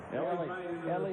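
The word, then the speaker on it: Elie: 76ers new player Mario no Ellie is how they're going to pronounce it or at least how he wants it pronounced Mario Ellie the newest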